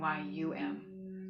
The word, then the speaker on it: YAM: And this seed syllable is YAM, Y-A-M, somewhere between Y-A-M and Y-U-M, just like all the other seed syllables we've been working with.